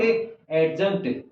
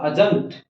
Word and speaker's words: adjunct: Examiner या तो आपको अजंत देगा, और एक बार एक चीज और देख लें, ADJUNCT, इट्स नॉट एडजंक्ट, यहाँ डी साइलेंट है और उसका प्रोनाउंसिएशन हुआ अजंक्ट।